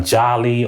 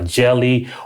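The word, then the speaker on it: jali: call it a griot some societies called it a jolly or a jelly or you know it's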